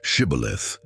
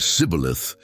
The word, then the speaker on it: Shibboleth: If he replied, "No," they then asked him to say the word Shibboleth. If he said Sibboleth, because he could not pronounce it correctly, they seized him and killed him at the fords of the Jordan.